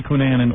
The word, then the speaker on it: Cunanan: All right, how do you say Cunanan or Cunanan?